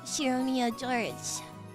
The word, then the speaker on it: Shiromiya: His name is pronounced Shiromiya George.